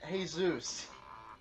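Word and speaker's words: Jesús: You pronounce it Jesus. Like you're greeting a Greek god.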